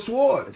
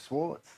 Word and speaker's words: swords: like Liquid Swords Liquid Swords Liquid Swords is my guys it's swords Liquid Swords s w o r it's swords W okay but the W is silent in the English language what that's not in